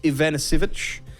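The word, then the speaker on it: Ivanišević: Ivanisevic.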